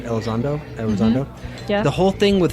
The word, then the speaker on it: Elizondo: the whole thing with Luis, how do you pronounce his name? Elizondo.